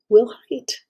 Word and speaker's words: Wilhite: GIFs were actually, it was created by Steve, it's a Wilhite is how his name is pronounced, and it was with him and his team clear back in June of 1987.